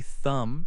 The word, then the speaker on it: thumb: Other words with a silent B include thumb, say thumb, and lamb, say lamb.